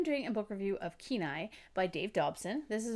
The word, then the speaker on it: Kenai: I thought it was Kenai, but it's Kenai, I guess.